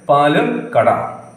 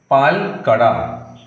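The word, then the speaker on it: പാൽക്കട: If we write it this way, it is pronounced as Palakada, which is not a correct pronunciation.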